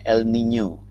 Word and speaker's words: El Niño: Nah, kalau kita lihat definisinya, El Nino itu dibacanya El Niño. El Niño itu adalah bahasa Spanyol yang artinya anak laki-laki.